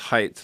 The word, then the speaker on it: Haidt: It's pronounced Haidt, like height, but it's Haidt.